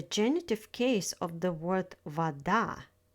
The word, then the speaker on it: вода: In the word вода, stress falls on the second syllable.